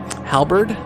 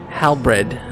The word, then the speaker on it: halberd: a staff basically but you're never pronouncing it correctly halberd there you go hal bread i'm dyslexic you're always